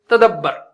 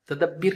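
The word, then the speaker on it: تدبّر: तो अब यतदब्बरु है ना, इसका या गिराइए, आखिरी को साइलेंट कीजिए, तदब्बर, तदब्बिर नहीं होगा, तदब्बर।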